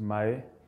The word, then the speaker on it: Mmaee: Yeah, you pronounce it just Mmaee, like Samy Mmaee is the correct pronunciation, so it's very simple.